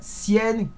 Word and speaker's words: Sienkiewicz: Un papier, alors attention à la prononciation, Bill Sienkiewicz.